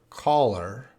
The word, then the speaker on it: collar: guys are so guys repeat after me this is a caller caller caller and this is black color color color color black color